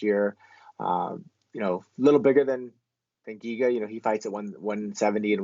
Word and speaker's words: Giga: I always want to say his last name makes me want to say Chiga, but it's not. It's Giga. So apologies for that.